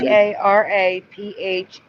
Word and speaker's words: paraphernalia: It looks like PARAPHERNALIA.